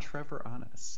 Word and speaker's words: Treviranus: And I know I just butchered your last name there. No, it's still okay. Treviranus. Treviranus.